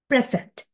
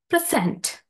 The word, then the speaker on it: present: that uh first one the word present as a noun stress falls on the first syllable present and second one present as a verb stress falls on the second syllable uh as an example